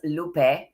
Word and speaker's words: Lupe: My name is pronounced Lupe, not Lupi, Lupe.